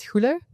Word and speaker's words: Goele: you're all about so um my name is huler it's a Al name not very common there either very difficult to pronounce and I'm here with Loop earplug I'm